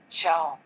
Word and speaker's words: ciao: As you can see on the screen, C before A or I is pronounced like CH in church, for example, ciao.